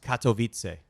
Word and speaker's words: Katowice: hot tip for our listeners as well it's pronounced Katowice just know now we know we're gonna get